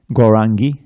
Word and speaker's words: Gaurangi: Notice how all the I's at the end of these different designations of Radharani, Gaurangi and Vrindavaneshwari, Devi, and that's it, 3. They're all short.